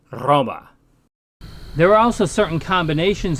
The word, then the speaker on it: Roma: name for Rome then should really sound like Roma there are also certain combinations of consonants that have a distinct pronunciation in classical Latin x and z for